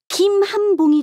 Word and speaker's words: 김한봉: 금은 성씨로 읽을 때는 김으로 읽지. 그럼 김한봉이 되는 거네?